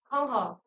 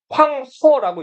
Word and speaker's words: 황하: 황 하라고 불러요. 근데 하를 중국어로 읽으면 허라고 읽기 때문에 황허라고 읽기도 해요.